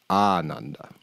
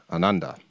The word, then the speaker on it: Ananda: There's 2 ways of pronouncing that word. The first, Ananda, is short. It's quick, and there's no emphasis really on any of the letters, and means joyless, literally lacking joy.